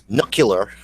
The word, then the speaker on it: nuclear: Nuclear or nuclear. As opposed to nuclear, okay, which is the way you're supposed to say nuclear vessels. That's the correct pronunciation. There is no extra U, so it's nuclear, which is the way